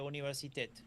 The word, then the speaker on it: Universität: Y se dice Universitet. Universitet. Mirá vos. Yo apenas sé hablar castellano, que divino. Pretendés que hablar alemán. Universitet.